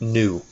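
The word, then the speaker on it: ν: call that frequency that's given the symbol new I know it looks like a V but that's actually a Greek letter pronounced new so the easiest way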